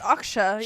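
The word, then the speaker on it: Acxa: of the blue hair we finally learned how to pronounce her name her name is akshay it's akshaya yeah she sort of unofficially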